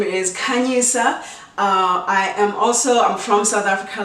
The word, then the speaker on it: Khanyisa: My name is Khanyisa. That is the correct way of saying my name. I know based on the accent, some people say Khanyisa. I've been called Khanyisia. I've been called Nkingsa. I've been called Candy. I prefer Khanyisa or Khanyi.